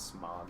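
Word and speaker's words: Smaug: Did you see Desolation of Smeagol? Is it Smeag or Smog? Is it Smog? It's Smog. I don't know how to pronounce his name.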